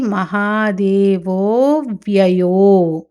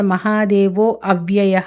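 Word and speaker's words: మహాదేవోఽవ్యయో: మృ మృడఫ్ పశుపతి మృడ పశుపతి పశుపతిర్ దేవో మహాదేవో అవ్యయః కానీ సంధి కలిసి అది మహాదేవో వ్యయో అక్కడ మహాదేవో అవ్యయః అని పలకూడదు కలిపి మహాదేవో వ్యయో మహాదేవో వ్యయో హరిహి మృడః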